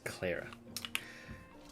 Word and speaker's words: Clara: After Claire, of course. Okay, I'll do my best. It's Clara. I've pronounced both names that look like incorrectly.